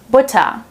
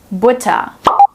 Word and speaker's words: Butter: Since the R is placed right before a consonant, we pronounce it with the silent R here.